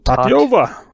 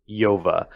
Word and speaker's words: Tatyova: That is the pronunciation. Tatyova. Tatyova.